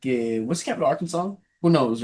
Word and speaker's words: Arkansas: Well, I said Arkansas, didn't you know that No. I don't know why it's not pronounced R Kansas.